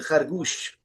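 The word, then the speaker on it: خرگوش: ये गूश, उनका जो स्टैंडर्ड प्रोनाउंसिएशन है वो है, हमारे यहाँ गोश कहा जाता है इसको, खरगोश, like, but इट is actually खरगोश।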